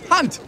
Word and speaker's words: Hunt: It's very simple. Hunt. It rhymes with a word that happens to describe you perfectly.